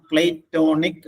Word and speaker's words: platonic: എന്റെ ഉച്ചാരണം പ്ലേറ്റോണിക് എന്നാണ്.